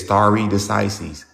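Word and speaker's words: stare decisis: Some people say it's starry decises.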